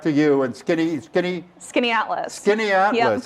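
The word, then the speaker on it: Skaneateles: tiny town in upstate new york uh called skinny atlas a lot of people haven't heard of it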